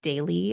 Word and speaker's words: Daylyy: So Megan had suggested the app Daily. Again, that's spelled Daylyy.